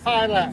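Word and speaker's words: Filak: F with the long I, L-A-K, Phylac.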